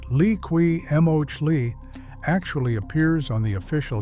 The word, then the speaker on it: Liqui Moly: If you want the same style of protection without the price tag, Liqui Moly, spelled l i q u i m o l y and pronounced lee-kwee mohl-ee, actually appears on the official JASO 4T registered list under the MA2 category.